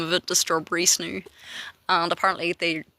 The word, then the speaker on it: Snoow: I'm like, it is fucking snoo. It's spelled SNOOW. Fucking snoo.